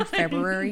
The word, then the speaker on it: February: the way i say february i pronounce both ours february february february february whatever anyway february you're also